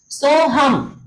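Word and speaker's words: सोऽहम्: सोहम, देखिए इसमें ए जो है वो क्या है, साइलेंट है।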